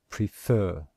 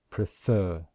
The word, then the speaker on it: prefer: Can you hear that we stress the second syllable? And in IPA, we show that with this symbol here to show that this is the syllable which we stress, prefer, prefer.